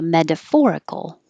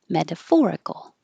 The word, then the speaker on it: metaphorical: to d metaphor and if it's adjective the stress moves to metaphorical metaphorical hat finish with the